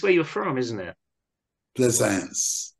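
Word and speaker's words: Plaisance: say it it's where you're from isn't it pleasance pleasance that's it yeah and I was talking about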